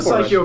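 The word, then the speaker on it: Psikyo: fun such a personal preference thing I'm a psycho guy so I I'm I'm biased how do you pronounce the name of that company psycho psycho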